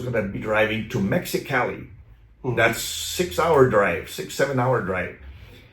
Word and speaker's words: Mexicali: You need to say it right, Mexicali.